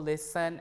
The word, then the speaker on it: listen: and S cluster uh T is also lost in s cluster uh be uh for example Castle Hassen wrestle listen and hustle right uh also the